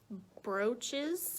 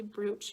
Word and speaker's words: brooch: couple of beautiful brooches i get made fun of by my co-workers because i always mispronounce the word brooch and i say bruce because that's what it's spelled like and we have this